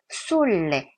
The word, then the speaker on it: s'erge: "S'erge" 는 "s'erge" 가 아니라 "r" 이 두 개 입니다 . 그러니까 "s'erge" 는 "s'erge" 가 아니라 "s'erge" 입니다 .